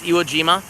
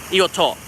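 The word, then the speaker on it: Iwo To: calls it Iwo Jima, and 99% of the Western people know it as Iwo Jima, and in Japan it's called Iwoto. So, yeah, Iwoto is the correct way to say it.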